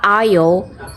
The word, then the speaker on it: aisle: We spent our vacation on a small island คำสุดท้ายอ่านว่า isle isle isle isle อ่านไวๆก็จะกลายเป็น isle isle isle She